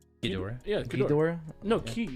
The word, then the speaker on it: Ghidorah: where Eduardo's talking about Ghidorah and then Devin's like, it's not Ghidorah, it's Keydora, and the editor throws up the pronunciation showing Devin's wrong.